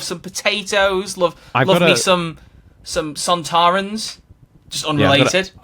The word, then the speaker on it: Sontaran: Love me some Sontarans. Just unrelated. Yeah, I've got to say Sontarans, because I always get in trouble for saying Zontarans.